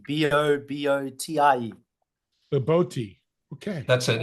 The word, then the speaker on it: bobotie: Bobotie, Bobotie. Bobotie. Okay. That's it. It looks like bobotie, but it's pronounced bobotie.